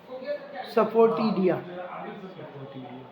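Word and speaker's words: asafoetida: ए silent है, सफोटीडिया, सफोटीडिया ऐसे पढ़ो।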